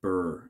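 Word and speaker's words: Byrd: it was led by a guy by the name of Admiral Richard E Burr it spelled like bird b-r-y-d but my understanding is that the D is silent they went down to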